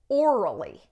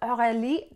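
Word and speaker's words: Aurélie: Americans pronounce it orally. And my guy friends fucking lost it. They're like, her name is orally? I'm like, no, it's Aurelie.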